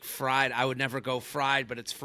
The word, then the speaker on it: Freid: I always do Freid like spelled like fried.